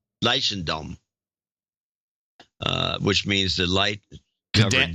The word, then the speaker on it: Leidschendam: You can pronounce it. It's Dutch. It's Leidschendam.